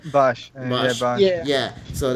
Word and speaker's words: Bosch: There's a Johnny Young Bosk, I think that's how you pronounce his name. Bosch.